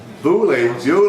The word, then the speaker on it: Beaulieu: Bewley, yes, Bewley, whatever. How do you pronounce that even? Really? Bewley. Don't look like Bewley to me, it looks like Beaulieu.